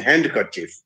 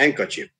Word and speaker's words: handkerchief: the quote indicted him d is silent in words like wednesday and handkerchief we don't say handkerchief it's a handkerchief so hanky handkerchief so